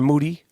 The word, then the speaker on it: Moody: moody last name rhymes with duty moody moody